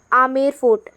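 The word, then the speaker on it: Amer Fort: आमेर फोर्ट। एएम बी ई आर फोर्ट। ठीक है? यहां पे बी साइलेंट होता है।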